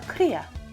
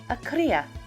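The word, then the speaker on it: cría: with our facts did you know a baby llama is called a kriya that's spanish for baby do you remember what it's called yeah akria don't forget to roll your r's llamas are very smart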